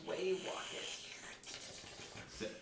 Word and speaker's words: Way Wocket: And for anyone that does have character names right now, My name's Way Wocket. spell that. WayWocket. You know, walk it in my Rules pocket. of- Wocket in my pocket.